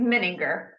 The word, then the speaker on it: Mininger: your last name right it's close but it's okay it's mininger and I've heard all sorts of ways okay I I get